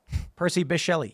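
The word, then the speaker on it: Percy Bysshe Shelley: read it and I don't know how to pronounce the guy's name it's a guy right fail uh he B I was correct Percy bishell yes I'm very happy when I remember stupid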